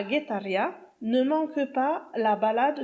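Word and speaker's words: Getaria: Mon coup de cœur, c'est Guetaria. Attention, c'est basque et ça s'écrit sans U, ça s'écrit G-E-T-A-R-I-A. C'est un petit village de pêcheurs sur la côte basque, à 2 pas de San Sebastián, Et Guetaria, c'est un véritable havre de paix.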